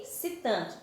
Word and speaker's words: excitante: E esse tan, ti, o som do E, quando a gente pronuncia, tem som de I.